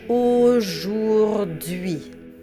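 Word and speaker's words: aujourd'hui: So now that we have all four sounds, let's do the word syllable by syllable. Au jour d'hui. Au jour d'hui.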